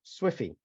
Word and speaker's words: SWFI: sterile water for injection otherwise known as swfi pronounced Swifty what is the final